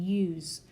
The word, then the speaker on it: use: the second example use typically if I see an S in a word it's gonna say a soft S sound unless it has that silent e on the end of the word but I don't have to have it in order to get that Z sound on my S as in use so I can drop